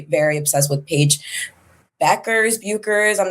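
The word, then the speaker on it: Bueckers: We love Yukon in this family, but I also just am very very obsessed with Paige Beckers, Bukers. I'm not exactly sure how to pronounce Beckers.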